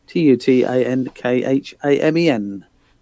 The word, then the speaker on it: Tutankhamen: En is the Egyptian way and pronunciation. Otherwise, the English way is spelled Mun. I wanted the Egyptological pronunciation Tutankhamen. Now you're just getting fancy. Why would you Tutankhamen?